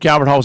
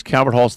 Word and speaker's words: Calvert Hall: they made some history you actually misspoke you said Calvin holds a team to beat and I'm going to tell you the correct way to say it is Calvert halls the team that can't